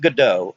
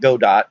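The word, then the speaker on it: Godot: know that's not how it's I know it's pronounced good do I just I'm American I see go do and I pronounce it God dot I know that's not the right way I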